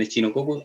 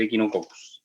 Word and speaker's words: Echinococcus: Entonces van a haber muchos parásitos como trichinella, por ejemplo, que se pronuncia triquinela, o Echinococcus, que muchos le dicen Echinococcus, debería ser Echinococcus, ¿ya?